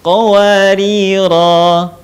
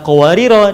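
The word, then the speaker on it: قواريرا: Contoh lain, wa yutafu alaihim bi aniyatin min fiddatin wa akwabin kanat qawarira. Kalau berhenti, qawarir dipanjangkan, tetapi kalau dibaca nyambung dengan ayat berikutnya, maka kata qawarira dibaca pendek.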